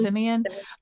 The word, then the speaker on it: Simeon: um, and I remember telling you, like, oh, it ended where I guess we say his name Simeon. It's not Simon, right? Mhm. Simeon um goes into her quarters where she's staying.